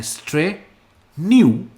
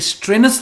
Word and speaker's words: strenuous: इसकी प्रोनाउंसिएशन है स्ट्रेन्यूअस, स्ट्रेन्यूअस। ये स्ट्रेनस नहीं हम कहते, इसे कहते हैं स्ट्रेन्यूअस।